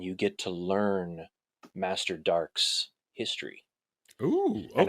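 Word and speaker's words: Darque: Master Dark. And that's dark spelled with a Q-U-E at the end.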